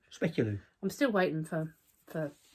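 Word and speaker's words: speculoos: festive tart lattice top speculos isn't that a speculu yeah spelled with double O so it's not an ooh it's an O So specular I'm still waiting for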